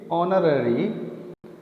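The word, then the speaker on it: honorary: An honest man, एन ऑनररी, यहाँ पर ये ऑनररी पोस्ट, यहाँ पर भी एच साइलेंट है।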